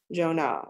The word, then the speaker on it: Joan: her translucent silk socks my mother liked to break my name into two syllables jonah she said and assess my shoulder